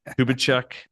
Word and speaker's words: Kubicek: Maybe you can put that in the show notes, George, because my name is almost like Grombbucker Kubachek. Uh, and it's spelled weird, J M I E.